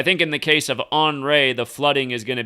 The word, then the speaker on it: Henri: Hurricane, it looks like Henri with an I, right? But the way they're pronouncing it is Henri, like it's Henri. It's angry. Hurricane angry.